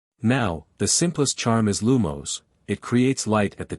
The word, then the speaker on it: Lumos: Now, the simplest charm is lumos. It creates light at the tip of your wand. The incantation is lumos, pronounced llo, with the emphasis on the first syllable.